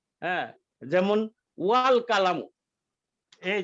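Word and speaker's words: الكلام: হামজাতুল ওয়াসলি, হামজাতুল ওয়াসলির ধর্মই হলো শব্দের প্রথমে থাকলে সেটার মধ্যে কোনো হরকত থাকবে না, কিন্তু যখন উচ্চারণ করতে হবে তখন আ উচ্চারণ হবে আ। যেমন এখানে আল কালামু, আল কালামু, এটার উচ্চারণ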